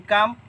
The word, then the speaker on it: calm: Like calm, in calm we don't pronounce the letter L.